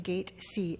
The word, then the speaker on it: Gazi: I would like to call upon Gazi. I am not sure if I Yes. spelled your last name properly. It's pronounced gate C like at the airport.